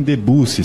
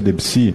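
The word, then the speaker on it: Debussy: Ou seja, falar em harmonia, falar em BAC, sendo que a pronúncia dele é bar, falar em debuci sendo que a pronúncia é debsi, além de ostentar um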